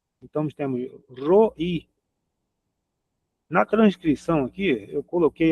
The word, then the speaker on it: Roi: Às vezes eu até esqueço de colocar, mas enfim, a pronúncia é essa. Roi, R o I. E o assento no finalzinho, né? No i. Roi.